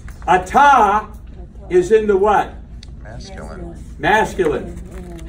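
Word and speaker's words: את: At is one syllable. At. And so the Shabba there doesn't have a sound, but what does it do? It connects these together and makes one syllable.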